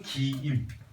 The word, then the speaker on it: 김: 장, 기, 임. 이거요, 길게 느려 발음한 겁니다. 장을 길게 자앙, 김을 늘려서 길게 기임. 장씨, 김씨예요.